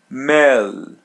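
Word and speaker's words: melhor: Melor mel meor meor. Letter L is pronounced as English L. Mel and letter H is pronounced as Y. Melor.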